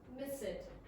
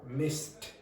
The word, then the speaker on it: mist: Miss it. No. Mist. Mist. Mist.